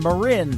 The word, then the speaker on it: Marin: It is Maryinn. Marin Taylor. That is called I Know a Girl. And she has taken that song viral on TikTok as well and given tutorials on how to pronounce her first name, Marin. So guys like me don't mess it up.